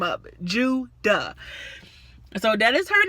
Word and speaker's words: Judah: Her name gonna be Judah, okay? It's easy to pronounce. It's 2 syllables. You should not mess this name up. Judah.